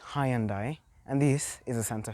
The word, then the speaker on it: Hyundai: So people say Hyundai, others say Hyundai, but it's actually Hyundai, and this is a Santa Fe.